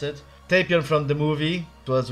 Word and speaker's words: Tapion: my favorite character is tapia tapion tapion everyone pronounce it tapion from the movie it was wrath of the